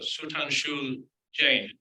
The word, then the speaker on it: Sudhanshu Jain: It is my pleasure this evening to introduce, and I'll probably pronounce this wrongly, but Sudhanshu Jain.